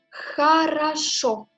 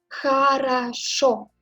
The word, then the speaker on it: Хорошо: L'accent tombe sur au final. Et vous voyez, il y a encore deux O, mais on prononce comme A parce que l'accent ne tombe pas sur O, sur la première lettre par exemple.